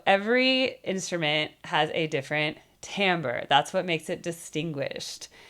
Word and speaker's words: timbre: Now, speaking of timbre, timbre is your particular vocal quality. The way to think about timbre, and by the way, it's spelled Timbre, French spelling, timbre.